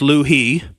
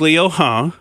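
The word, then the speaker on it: 刘鹤: that you say what I would say is Liu He, but it's Liu He is the correct pronunciation. I did try to look that up ahead of time. I hope I'm saying it exactly right, Liu He.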